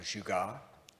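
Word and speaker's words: jugaad: Some of you have heard me talk about this concept of jugar. Jugar is a Hindi term. It's spelled J U G A A D and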